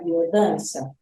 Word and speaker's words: Biodanza: Agora, Catina, quem frequenta a biodança, que, aliás, para a gente aqui ficar mais familiarizado, a gente fala biodança, mas se escreve biodança, com Z, É, né?